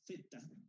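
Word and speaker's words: theta: Bueno, acá la fuerza magnetomotriz, este libro y algunos otros le llaman lo que se pronunciaría como zeta, y a veces llamamos tita, más cómodamente decimos tita.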